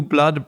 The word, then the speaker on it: blood: And be careful of the pronunciation there of the word blood because the double o in words can sometimes have an ooh sound like food or mood. But with words like blood or flood, it's an a sound.